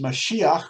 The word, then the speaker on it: Mashiach: david wrote that when the messiah will come which we pronounce as mashiach when meshiach will come